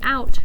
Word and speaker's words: out: Once again, O-U says ow, like ouch.